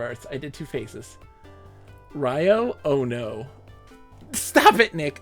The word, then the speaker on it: Rue: gumbo audio Eric enjoy Rue is pronounced more like Ryu Ryu Ryo it's Ryo it smells like Ryo